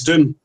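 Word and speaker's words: Doum: Uh and three called Judge Ulys's Doom and it's spelled D O U M like the doom tree from Chad in Africa.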